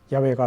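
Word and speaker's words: 야훼: 소리라고 할 수 없습니다 그래서 여호와가 맞는지 야와가 맞는지 우리는 모릅니다 최근에는 야외가 더 정확한 소리라고 주장하는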